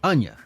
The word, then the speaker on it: Anya: Anya.